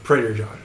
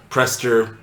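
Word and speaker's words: Prester John: Uh Prader John. Prader John is there. Prester, pastor.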